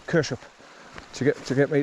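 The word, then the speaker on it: Kershope: one of my videos he says it's pronounced Kush so spelled it like k a r s h u p Kush up to get to get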